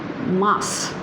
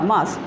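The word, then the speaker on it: Mars: March is M-A-R-S, and the pronunciation is Mas, right? Ma pe badiya ki matra and sa, Mas.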